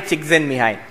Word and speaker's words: Csikszentmihalyi: You pronounce it Mihai Csikszentmihalyi.